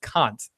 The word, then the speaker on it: Kant: and uh Meadow's like I think it's Kant where he's like it's Kunt that said or I